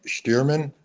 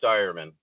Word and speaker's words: Stearman: Am I saying it right? Is it Stearman or? Yeah. Okay. I mean, close All right. enough. It's a tongue twister. Oh. Well, give me the correct pronunciation. It's Steierman.